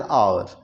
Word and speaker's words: hour: उसी तरह से हाफ एन आवर है ना, तो यहाँ पर चूंकि एच साइलेंट है तो और ओ जो से पहला लेटर पर हमें स्ट्रेस देते हैं तो यहाँ पर एन का प्रयोग करते हैं।